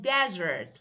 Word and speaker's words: desert: And the next one, for example, we have desert and desert. Look, desert. Okay? Desert as a noun is a dry place. Desert. But as a verb, it should be pronounced like desert, like this.